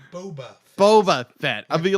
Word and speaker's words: Boba Fett: actually uh book of book of book of Bubba Fett is going to be shorter Bubba Fett I said it wrong I've always redneck Boba Fett is what I'm get that is Boba Fett